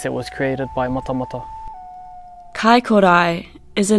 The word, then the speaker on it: Kaikorai: Kaikorai is a name commonly used in Dunedin today, but the original spelling and pronunciation of the name is Kaikorai.